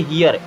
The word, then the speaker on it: hear: अब इसे हीर नहीं पढ़ेंगे, इसे पढ़ेंगे हियर। क्या पढ़ेंगे हियर, ये वाला रूल ही मिलेगा।